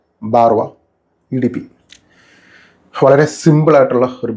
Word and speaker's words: Barrois: ഇതിൻ്റെ പേര് പലരും തെറ്റിച്ചാണ് ഉച്ചരിക്കുന്നത്. യഥാർത്ഥത്തിൽ ഇതിൻ്റെ പേര് മാർക്ക് ആന്ത്വാൻ ബാർവ ഗാനിമെഡ് എന്നാണ് പെർഫ്യൂമിൻ്റെ ഫ്രഞ്ച് ഉച്ചാരണ ശൈലിയിൽ പ്രൊനൗൺസ് ചെയ്യേണ്ടത്.